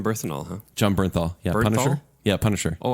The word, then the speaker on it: Bernthal: and all huh John Bernthal yeah Punisher yeah Punisher oh I've been saying his last name wrong did you say barenthal yeah how do you say it John Berenstain Bears yeah Bernstein Bears first and all personal I